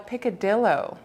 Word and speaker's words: picadillo: Like tomorrow, I have a Filipino style picadillo. Picadillo. Oh, picadillo. I researched it. We were deciding whether we should say it the anglicized way or the Spanish way, and we agreed that